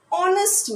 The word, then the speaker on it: honest: put and why because though these words start with a consonant letter h but the sound the sound is a vowel sound like an honest man and are an